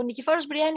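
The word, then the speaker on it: Nikephoros Bryennios: how does that no you actually said it very correctly no no nikki force brian is correct so obviously anna's marriage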